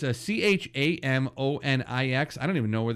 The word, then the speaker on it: Chamonix: It's Chamonix. It's weird. It's spelled weird, but it's Chamonix.